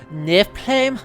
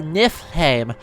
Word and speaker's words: Niflheim: is n-i-f-l-h-e-i-m uh and old norse that would make it nif claim or nif heim uh two syllables and mario's landing to actually nip him with a p sound instead of an f because modern icelandic did that for some reason uh it's it's weird